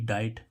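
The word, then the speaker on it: diet: गरा ऐसे ही इसमें देखें डी आईई टी डाइट डाइट means आहार लेकिन अभी हम क्या देख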